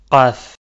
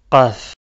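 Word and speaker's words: قاف: Qaf. Qaf. C'est un son grave et il sort en fait de la gorge.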